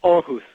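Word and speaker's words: Aarhus: Was it Arus? How do you say that city? Yeah. Orus.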